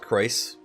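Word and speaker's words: Crois: Look, I know it's supposed to be pronounced Croix, but like, it's really hard for me not to just say it like Croy, okay?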